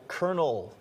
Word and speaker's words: colonel: For example, colonel has no R in it.